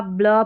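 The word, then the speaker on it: blue: जब भी BL दिखेगा ब्ल पढ़ देना है, ठीक है। UE जो है इसका ऊ उच्चारण हो रहा है ब्लू में, और ब्लॉक में हो गया, ब्लैक में CK है, इसको क पढ़ना है।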